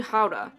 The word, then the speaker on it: Gouda: cheese factory and we learned that gouda isn't pronounced gouda at all it's actually hauda after that we had early dinner and then